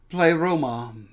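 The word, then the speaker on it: πλήρωμα: what's going on here the greek word is pronounced play roma which means something like perfect completion on the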